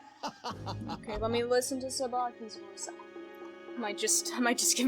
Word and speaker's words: Tsubaki: You know, Tsubaki in the Japanese version of the game, his name is actually Tsubaki. It has a T in the beginning, so T-S-U-B-A-K-I.